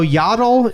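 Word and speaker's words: Yaddle: a dog yeah so yattle is yattle yattle yattle yattle is yle's cousin from Sand Mountain yattle I mean I guess it is spelled like paddle yattle paddle and I'm not trying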